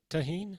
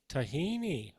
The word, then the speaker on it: tahini: oatmeal taban is that is that how it's pronounced tahen tahini tahini okay good I just learned something all right